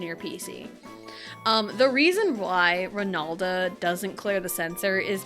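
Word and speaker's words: Ranalda: Because I used a Nidoqueen in Heart Gold, and I gave it the nickname Ronalda, and it's spelled R-A-N-A-L-D-A, Ronalda.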